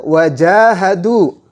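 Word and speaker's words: وَجَاهَدُوا: Selanjutnya wajahadu. Dalam huruf ja tersebut ada alifnya. Jim berharokat fathah bertemu dengan alif, maka jimnya harus dibaca panjang. Satu alif atau dua harakat.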